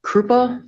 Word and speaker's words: Krupa: Krupa. First name is spelled c a r y n.